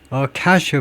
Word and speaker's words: cache: cache of emails, cache가 이거하고 발음이 똑같습니다.